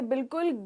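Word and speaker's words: bowl: Generally इसे बाउल कहा जाता है और ये बिल्कुल गलत प्रोनाउंसिएशन है। इसका सही प्रोनाउंसिएशन है बोल।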